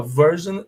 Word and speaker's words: version: Então, elas são pronunciadas, esse final aí, S-I-O-N, é pronunciado com som de jan, tá bom? A gente fala version e immersion, ok, guys?